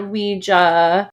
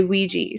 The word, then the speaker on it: Ouija: on purpose didn't you so apparently you could call it Ouija which makes sense because it's spelled o UI J A but everyone pretty much says oui right no no it's spelled with an A so oh okay but some people say Ouija and some say Ouiji so I think both are kind of technically correct but it does